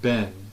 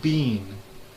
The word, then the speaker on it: been: The word ben, B-E-E-N, like the past participle of the be verb. They pronounce it bean, like B-E-A-N, like the vegetable.